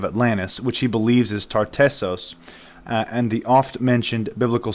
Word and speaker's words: Tartessos: amazingly in the Bible that is correctly pronounced as tartessos which appears amazingly in